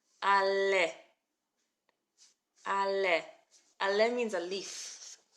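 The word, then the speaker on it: עלה: So we've got our silent letter. A, our lamed, le, and our hey at the end. Ale.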